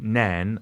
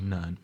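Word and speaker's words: Nairn: called ner okay n a i r n nen as most people would pronounce it but the locals actually say ner okay and it's like n Cakes you got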